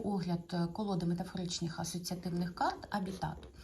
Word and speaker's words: Habitat: колоди метафоричних асоціативних карт абітат Саме так правильно її називати ви могли почути назву хабітат але це невірно це з латинської з латинського слова абітари що означає проживати жити і ось ця літера не читається тому правильно називати колоду абітатор Отже це колода класична